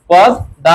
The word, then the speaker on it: পদ্মা: এখানে কি হবে বলতো এই যে ম ফলা যার সঙ্গে থাকে সেই ম কিন্তু উচ্চারণ হয় না অনুচ্চারিত কিন্তু ম যার সঙ্গে থাকবে সেটা দৃত্ত উচ্চারণ হবে কয়বার দৃত্ত তাহলে কয়বার হবে দুইবার পদ দা হবে আর ম ফলা থাকলে